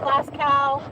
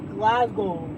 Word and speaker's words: Glasgow: We're in Glasgow. Glasgow. You have to say it right. It's not Glass Cow. It's not Glas Cow. It's Glasgow.